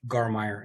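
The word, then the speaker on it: Garmeyer: last name wrong but i think i heard you pronounce it gar meyer as well my getting that okay absolutely yeah you're actually one of the few that has it right so you're uh you're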